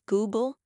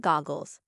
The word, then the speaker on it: Google: to correct his mispronunciations pointing out that it was Google not goggles and chrome not columns but her Corrections only